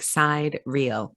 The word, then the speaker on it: sidereal: Sidereal. It's spelled like side real. Sidereal.